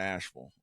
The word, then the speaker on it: Asheville: the the Vil like I understand why they say that because it looks like that. It looks how it's spelled, but I I say V. So if I'm going to Asheville, I'm going to Asheville.